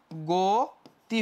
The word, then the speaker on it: গতি: তুমি উচ্চারণ করে দেখো, গ অ উচ্চারণ করে এখানে গতি বলো কখনো, গতি কি বলো, গতি কেউ বলি না, আমরা কি বলি গতি, গো ও হয়ে যায় গতি। আমরা অ উচ্চারণ করি না কি কারণে, কারণ এখানে এই যে রস্বই যুক্ত আছে পরে, এই জন্যই।